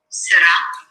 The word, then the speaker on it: sera: Now notice the S-E. How do we pronounce an E in French unless it is caveat E-S-E-T-E-R-E-Z? No. What I mean is, how do we pronounce an E without an accent on it unless it is E-R-E-S-E-T-E-Z? So it's not sera, which is will squeeze. Yeah, will squeeze. I want will be.